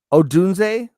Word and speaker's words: Odunze: Odunze. That's how you pronounce it, right? Odunze. Odunze, Yeah. No, that's the right.